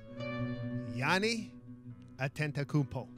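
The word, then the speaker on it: Giannis Antetokounmpo: Yanni Antetokounmpo. Opa! Opa! Opa! Don't pronounce the S.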